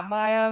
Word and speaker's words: MEYA: And today's topic is well it's a Polish word actually it's maya is that correct pronunciation? Yeah maya mayo is okay and also with that you have the voice of the episode this episode's guest.